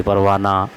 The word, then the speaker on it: پروانہ: وقت اس میں ہے، آخری میں جو ہے اس کی آواز مکمل طور پر ہم کو اس کا تلفظ نہیں ہوتا، اس کو پڑھنے میں مطلب مکمل طور پر اس کی آواز نہیں نکلتی۔ جیسے پروانہ میں ہم